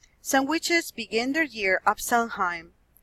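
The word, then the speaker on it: Samhain: begin their year of Sun hime pronounced either so when or so weaned others see jewel at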